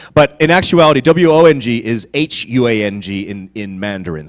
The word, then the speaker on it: Huang: So it's really Huang is what W-O-N-G is. But Wang and W-A-N-G and W-O-N-G are pronounced the same. So that's why I try to pronounce it the way that you would pronounce it in China.